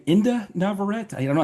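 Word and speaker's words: Inde Navarrette: was played by I think is her name Inda Navarrete?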